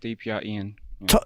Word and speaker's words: DPR IAN: studio gprn hey hey is that so much pronounced correctly um yes that is correct DPR Ian talking to that bad boy eat that microphone